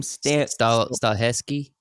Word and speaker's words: Stahelski: So the John Wick director, the director for John Wick, Chad, how do you pronounce that last name? Stahelski.